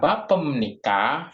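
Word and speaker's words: 바쁩니까: Nikah tuh ya dibacanya bapem nikah karena B ketemu dibacanya m jadinya bapem nikah I BEM nikah Apakah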